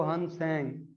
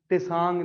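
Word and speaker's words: Hiuen Tsang: मैंने नाम बता दिए आपको, लिखे भी हुए हैं, फाहन और दूसरा जो है वो हन सेंग, इसमें टी साइलेंट होगा, इसको आप टिसांग नहीं पढ़ेंगे, ठीक है, इसमें टी साइलेंट है लेकिन टी आपने लिखना है।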